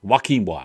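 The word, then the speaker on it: Joaquin Wilde: Joaquin Wild.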